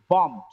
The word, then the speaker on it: bombed: Here, the last letter is B. Last sound is B. Not last sound is B. Last letter is B, but the last sound is M. Look at here. Bombed, combed, combed, famed, famed, dreamed, dreamed. The last sound is M. When it gets ed, the sound should be D at the end.